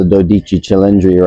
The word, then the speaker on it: Dodici Cilindri: So that's the Dodici Cilindri right there. That's how you pronounce it in Italian.